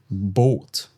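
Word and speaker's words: Boot: Does bought. Does bought. Okay, the boat. We have a double O, so the vowel is long here.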